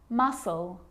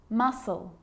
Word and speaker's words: muscle: examples they're quite tricky muscle muscle scissors fascinate scene scenario muscle scissors fascinate seem scenario so that's the silent sea so what about the